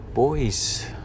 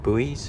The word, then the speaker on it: buoy: Look at all the buoys and nets, or buoy. How do the Americans say it? Buoys, or Buoys.